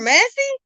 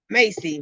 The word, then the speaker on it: Massey: butchered Shaylin, you butchered Massey. Come on now, Massey. See the S is in there, right? Macy. Was his last name Harris? Stop it. No, Massey.